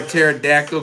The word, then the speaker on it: pterodactyl: Why couldn't you hear a pterodactyl? Go to the bathroom cuz the P is silent.